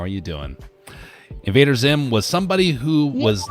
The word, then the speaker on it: Invader Zim: you thirsty for chicken Invader Sim Invader Sim I can't say I've heard before Oh Invader Zim Sim z i I mean Zim yep sorry I mispronounced it uh animated show from